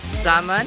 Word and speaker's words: salmon: Salmon? Don't pronounce the L. Salmon. It's salmon? Sounds like Simon?